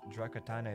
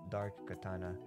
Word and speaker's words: Dark Katana: Just to say, the guy whose name you pronounce Drakatana is actually Dark Katana.